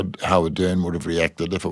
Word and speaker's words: Ardern: in his time, Marcus Ardern. He pronounces his name a little differently. So you've got Ardern and Ardern.